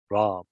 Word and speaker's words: Ram: Sort of a long, drawn-out sound. We could probably spell it R-A-H-M or L-A-H-M. And we'll just do it 8 times, so you get the idea. Here we go. Ram, ram, ram, ram, ram, ram, ram, ram.